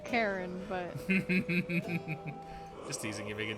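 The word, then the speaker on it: Charon: oh another poseidon buff so is it karen or kyron or chairman i mean because i like they say karen in the game not karen but yeah karen i guess you know but i've always said shy around and megan's googling i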